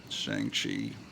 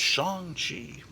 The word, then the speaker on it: Shang-Chi: And that looks a lot like Shang-Chi. Or as the Marvel is teaching us, it's really Shang-Chi, which no kid pronounced it Shang-Chi back in the 70s.